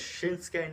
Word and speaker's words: Shinsuke: Shin. Ski? Close. Very So close. close yet so far. His name is Shinsuke Nakamura.